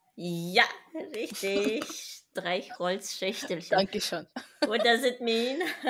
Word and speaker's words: Streichholzschächtelchen: So, Streichholzhacktelchen. I have no idea. Can I have a go? Yeah. Streichholzschächtelchen. Yeah, richtig. Streichholzschächtelchen.